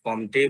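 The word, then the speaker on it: Comte: এখানে আগস্ট কেউ কেউ উচ্চারণ এটাকে আগাস্ট কমটে বা আগস্টপথ বলেও থাকে। এখানে এমটা সাইলেন্ট হবে। আমরা যেটা সুবিধে যে এমনটা করতে পারি দুটোই চলবে। অসুবিধা নেই।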